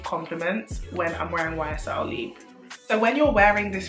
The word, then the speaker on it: Libre: Libre. So you pronounce the R-E like the French would.